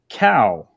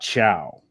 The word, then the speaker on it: Cow: And I just realized that is pronounced cow and not chow.